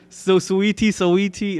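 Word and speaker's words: Saweetie: I know who she is, but I don't know how to pronounce her name. It's such an awkward spelling. Like, Sweetie, whatever.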